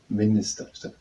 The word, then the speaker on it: minister: Just because of the microphone, if it's not coming onto the track, I'm always saying minister instead of minister. The pronunciation is on the I, on the first I.